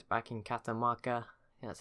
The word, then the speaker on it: Catamarca: Now it's back in Catamarca, that's how you say it, and Reykjavik, which is at 28 population now.